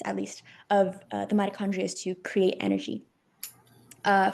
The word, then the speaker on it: mitochondria: Uh, it's pronounced mitochondria.